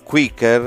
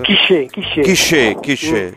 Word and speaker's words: Quicker: lo pseudonimo di Jules Quicker. Quiché, grazie della pronuncia. No, perché è un francese questo.